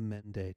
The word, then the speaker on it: Mende: like this sunbae pa he belonged to the Mende tribe you say it like this Mende had